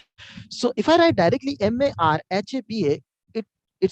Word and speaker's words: مرحبا: Marhaba Ahmed. كيف حالك? مرحبا. So see, marhaba, you are noticing, you must be noticing that how I'm pronouncing. It's not marhaba in correct way. Marhaba, correct way.